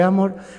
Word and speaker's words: Amorth: España allá en Roma se dice Don gabriele amor Ah el acento en la a pero aquí en España decimos Don Gabriel Amor amor sin la H incluso sin la H